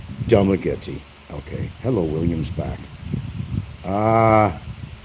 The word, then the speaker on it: Dumaguete: And numerous people in Dumaguete, and I got to say Dumaguete because that should be the pronunciation of the name, Dumaguete.